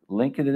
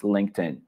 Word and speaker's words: LinkedIn: is said linkedin or i don't know like link it in or something like that pronounced like that please get your pronunciation correct it's linkedin that's how it's pronounced that's how it's pronounced